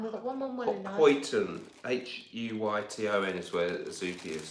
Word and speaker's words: Huyton: Huyton is the correct pronunciation of the part of Liverpool where Zoopy is living.